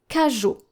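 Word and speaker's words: cageot: Let's take the word kaju. Kaju, which is spelled C A G E O T.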